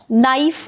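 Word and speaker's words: knife: में भी साइलेंट है नाइफ नाइफ अब इसमें भी के साइलेंट है इसी तरह है नाइट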